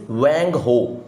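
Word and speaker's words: Hwang Ho: 26 देखते हैं, सोरो ऑफ चाइना इज वैंग हो। ये एच साइलेंट होता है ऐसे चाइनीज वर्ड्स में, तो बिहार में बताया गया।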